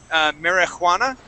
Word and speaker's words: marijuana: So, okay, so the way that we pronounce this word, we don't actually pronounce that J. We don't say marijuana, okay?